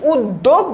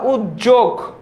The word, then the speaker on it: উদ্যোগ: যেরকম উদ্যোগ, এটার উচ্চারণ হবে কি? উদ্যোগ বা উদ্যোগ, দুটাই হয়। উদ্যোগও হয়, উদ্যোগও হয়, ঠিক আছে?